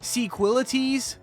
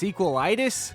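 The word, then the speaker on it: Sequelitis: Raptor's video on this seques wait what it's pronounced sequili itis well I feel dumb but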